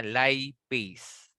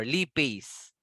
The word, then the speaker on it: lipase: Lipase or lipase. Depende kung saang bansa ang pagka-pronounce.